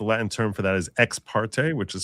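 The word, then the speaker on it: ex parte: So, when you get in there by yourself, that's called that's the Latin term for that is exparte, which is spelled X E X, new word P A R T E.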